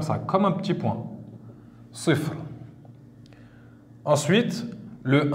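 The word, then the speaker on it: صفر: va dire en arabe sifr. Donc sifrun, mais rappelez-vous, quand on termine un mot, on ne prononce pas la dernière voyelle.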